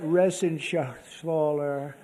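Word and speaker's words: Reschenthaler: You know that Resenshathaler. That's actually the way you pronounce it, you know.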